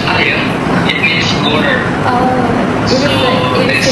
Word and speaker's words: air: But in Indonesia, air, we pronounce air.